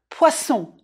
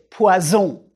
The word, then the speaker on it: poisson: saumon ou de l'assle du poisson prononcer poisson just like une BO poison si on naime pas